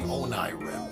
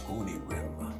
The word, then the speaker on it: Onirim: I was saying Onirim. Apparently it's Onirim.